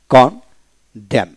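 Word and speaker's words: condemn: যেমন কন ড্যাম, CUN, কান DEM, কানড্যাম এন উচ্চারিত হবে না।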